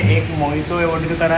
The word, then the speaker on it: Mojito: बहुत लोग बोल रहे थे कि मोहितो नहीं होता, वो मोहितो होता है, क्योंकि जे उसमें साइलेंट होता है।